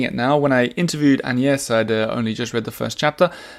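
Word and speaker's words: Agnès: talking about me and an yes which I had to learn how to pronounce in a French accent an yes it's kind of like and yes without the D and yes uh so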